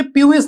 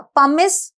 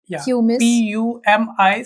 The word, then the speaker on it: pumice: प्यूमिस नहीं बोलना, right? नहीं, या पमिस स्टोन. पमिस स्टोन. मतलब वहां पे स्पेलिंग तो ये है. While writing you can say this in your head. Pumice. PUMICE. But you say pumice.